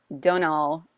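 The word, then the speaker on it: Domhnall: that um stars and I will say his name correctly Donal gleon which he has one of those weird Irish names that has way too many letters that you don't pronounce uh and then Michael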